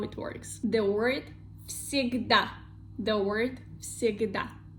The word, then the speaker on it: всегда: First one is the sound v, and it is voiced sound. But second one is the sound s, voiceless. So first voiced sound v have to become also voiceless, and it become the sound f from the list of our voiceless sounds.